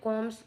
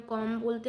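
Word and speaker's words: comb: ऐसे ही कॉम में कॉम्स B silent word हो जाए, क्योंकि हम कॉम बोलते हैं ना कि कॉम्ब।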